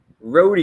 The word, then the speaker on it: roti: R O T I roi if you want to say it that way.